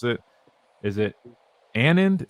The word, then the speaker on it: Anand: I'll be honest with you, this name that they typed me is a little off, so I apologize if I mispronounce it. Is it Anand, A-N-A-N-D?